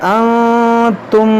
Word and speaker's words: अंतुम: देखिए हमज़ा आइन ज़बर आ, आबुदु मा तअबुदून वला अंतुम आबिदून मा अअबुद। देखिए यहाँ पर भी वही लफ्ज़ है। यहाँ पर देखें नून साकिन के बाद ता, यहाँ पर इख्फ़ा करेंगे।